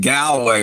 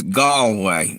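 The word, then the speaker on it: Galway: I get this right gallway did I it right I was calling it gway or something so it's gallway right I was mispronouncing it just like a damn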